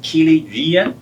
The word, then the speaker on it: Kiliii: um so yeah so my name is keely the first name is easy to say hard to spell last name is much